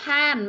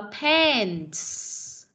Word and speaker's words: pants: Không đọc là pan mà đọc là pants.